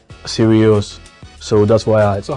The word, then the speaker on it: Sirius: of the star, the dog star, it's called Sirius. So that's why So how do you spell that?